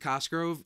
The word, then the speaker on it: Cosgrove: I will say with Cosgrove, he was awesome last year. He has a name that rhymes with Musgrove, so I appreciate that.